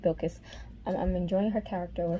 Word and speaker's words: Bilkis: I'm loving Sheba, who is Bilkis? I think that's how you say it, Bilkis.